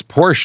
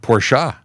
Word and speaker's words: Porsche: yeah um oh in in Brazil it's Porsche not porsa interesting in Brazil that